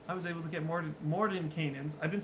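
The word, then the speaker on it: Mordenkainen: was able to get Morden Canaans. I've been saying Mordecainan the whole time, but there's an N right there. Morden Canaan. For years, I've known that name, and I've been saying it wrong.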